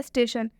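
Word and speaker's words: station: एक और एग्जाम्पल देखिए, स्टेशन। स्टेशन में भी ये जो आई है इसके पहले टी आया हुआ है, तो रूल के हिसाब से इस आई का उच्चारण अ से होगा, तो ये जो ट है इसमें अ जुड़ा हुआ है।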